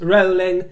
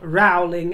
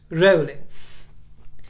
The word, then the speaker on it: Rowling: this in the past, it is Rowling, it is not Rowling, as in growling, my dear. She doesn't mind how you pronounce it, but it is pronounced Rowling.